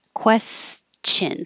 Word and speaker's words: question: finished on Monday so question you do have to hear the S and the cha question so think of chin question and language you do